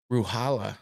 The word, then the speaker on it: Ruchala: Ruhala. I guess you don't pronounce the C.